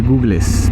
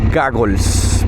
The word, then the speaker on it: goggles: Muchas veces uno le dice googles, pero no, es que se escribe geogles, se pronuncia goggles, pero bueno, cuando yo no sabía también decía googles.